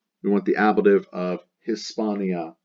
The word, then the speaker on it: Hispania: the letter H, like Hispania, the H is nearly silent, the B eases pronunciation.